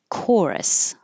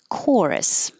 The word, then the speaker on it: chorus: Chorus. This is another ch that sounds like a K. um usually more directly um from Greek or Latin. Chorus.